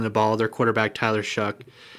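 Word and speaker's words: Shough: their quarterback, Tyler Shuck, I just put Shuck because that's how you say it. I actually was surprised. I was racking my brain on how to say it, and I looked it up, and he actually is the one who said to say it this way.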